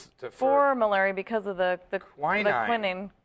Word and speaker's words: quinine: malaria because of the quinine. Quinine. Or quinine, as they say in Europe. As the Brits say.